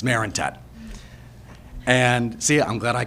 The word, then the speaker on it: Marentette: because a lot of people usually tend to mispronounce the last name it's Marinet and see I'm glad I can make you